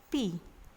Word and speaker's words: pi: Bacanya pi.